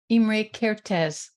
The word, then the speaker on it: Imre Kertész: And can you pronounce his name for me so that I don't mispronounce it? Imre Kertész.